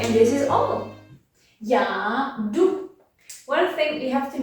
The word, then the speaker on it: jdu: the Czech language, that when we have a J followed by a consonant at the beginning, we usually don't pronounce that J. It's not necessary and not common. Já jdu.